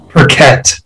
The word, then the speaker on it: Perkett: Like, it's almost like two syllable. Yeah, it's pronounced like it should have an E at the end. Like after the two T's. Yeah. Because most people say Perkett. Perkett. But it's Perkett.